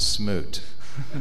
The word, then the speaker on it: SMUT: I did that's actually we pronounce it Smoot is how we pronounce pronounce that I see I'm I'm so sorry smut would be offensive pardon pardon me Senator